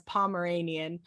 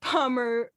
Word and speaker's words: Pomerium: I keep reading it as Pomeranian, but it's Pomerium.